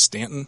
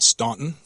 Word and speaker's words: Staunton: My district was in the Stanton area, and yes, it is pronounced Stanton, not Staunton.